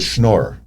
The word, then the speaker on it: schnorrer: It's called a schnorrer. Okay, SCHNORER, schnorrer is how it's. Schnorrer. We just pronounce it schnorrer.